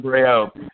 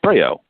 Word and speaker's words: Breyault: two and we're with our special guest John Bri Oh John and you know I'm I'm butchering your new Mike is that the correct pronunciation no no you got it right congratulations